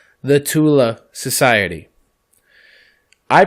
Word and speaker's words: Thule: I pronounce it as Thule, but mind you, it's a German society, so inflection is different.